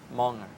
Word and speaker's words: monger: they are called gossip monger is the longer Monger right pronunciation okay gossip monger okay